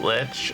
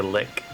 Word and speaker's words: lich: with that i know some people pronounce it lich and some say lick actually so i have